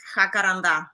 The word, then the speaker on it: jacaranda: So I'm going to pronounce it in Spanish. It's jacaranda.